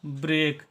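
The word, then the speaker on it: break: ब्र ठीक है और इ ए के का उच्चारण करते हैं एक ए के जब भी साथ में होता है तो इसका उच्चारण होता है एक ठीक है ए और क इसका उच्चारण करेंगे ब्रेक ब्रेक का मतलब होता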